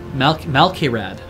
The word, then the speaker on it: Malkairad: Oh, it's Malkairad. Malkairad. Sorry, I kept saying it as an I, M-A-I.